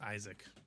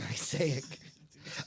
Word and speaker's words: Isaac: card for the Rams is that just how you say his name no I just was stumbling over my fat lips I think it's just Isaac it is I kept saying isic Isaac Bruce I think